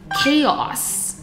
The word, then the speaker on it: chaos: 就可以用 genre 这个字。Chaos， OK， ch 呢其实有三种